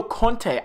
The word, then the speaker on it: Conte: here speaking about a topic and it's Antonio Conte I believe that's how you say his name